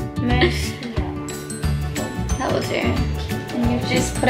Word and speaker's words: Mercier: That's how you pronounce it. Mercier. Mercier.